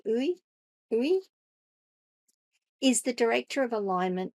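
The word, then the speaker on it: Yue: Summer, that's her first name, Uwe, I think, Y-U-E, I think it's pronounced roughly Uwe, is the director of alignment at Meta's Superintelligence Lab.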